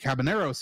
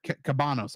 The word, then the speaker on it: Cabanos: and then Kristen Marie cabaneros in the Netflix sorry cabanos I said the name wrong really sad when it